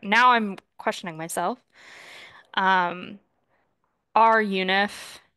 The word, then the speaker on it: runif: I'm questioning myself um R UNIF uh which I always pronounce internally in my head as runif which is sounds like it's doing something completely different is the function in